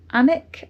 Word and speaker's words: Alnwick: I'm heading up towards Anic. I think that's how you pronounce it. Um, it's a Alwick on the map, but they don't pronounce the L and the W because I think in Northland it's means dwelling.